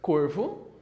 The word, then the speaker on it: corvo: agudo no plural beleza mesmo exemplo de corvo seja corvo no singular centro circunflexo no plural fica